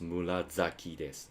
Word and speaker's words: 紫: ナスは紫です。紫。Even though it's like a murasaki, I think it's pronounced murazaki des.